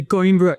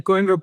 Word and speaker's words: Coimbra: Is it the Cumbria protocol? Is that how it's pronounced? The Coimbra? Yes. The Coimra protocol.